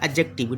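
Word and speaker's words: adjective: में एडजेक्टिव एडजेक्टिव ऐ हालांकि इसका प्रोनंसिएशन होता है एडजेक्टिव डी साइलेंट होता है लेकिन मैं समझाने के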